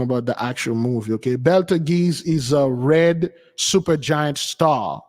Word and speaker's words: Betelgeuse: It's not the Betelgeuse, but Betelgeuse, it's pronounced Betelgeuse.